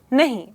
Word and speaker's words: know: यहां पे अगर आप देखेंगे तो इसकी स्पेलिंग में के और डब्ल्यू दोनों ही हैं। लेकिन ये दोनों लेटर्स साइलेंट है। इसका मतलब यह है कि ये लेटर्स का उच्चारण या प्रोनाउंसिएशन हम नहीं करते। हम इसे सिर्फ ऐसे ही कहते हैं नो।